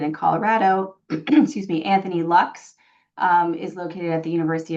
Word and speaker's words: Luks: I know Dr. Lux takes insurance, and his last name is spelled Luks.